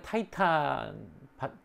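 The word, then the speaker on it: Titan: 이들은 거인족이라고 부릅니다 거인족 티탄 영어의 타이탄 스펠링 똑같고 영어식 발음으로 해서 타이탄이 된 거죠 타이타닉호 뭐 이런 것도 있고 커다란 뜻이죠 티탄 그리스 발음으로 티탄입니다 그래서 12명의 티탄이 나오는데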